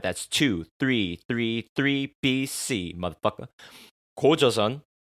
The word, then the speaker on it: 고조선: Gojoseon. My Korean pronunciation, a bit off. 고조선, 고조선.